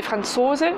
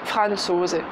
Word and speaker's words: Franzose: Avec bien d'ailleurs l'accentuation, vous avez remarqué, c'est Franzose, Französin. L'accentuation est sur la deuxième syllabe et pas Franzose.